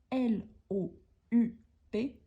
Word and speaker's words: loup: prononciation plus l'animal lou l o u P ont la même prononciation car les e à la fin plus le P à la fin on ne les prononce pas donc tu loues un loup on pourrait dire ça